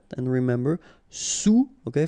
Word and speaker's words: sous: All right, and remember, sous, okay, final S not pronounced, so S-O-U, sous, sous-marin.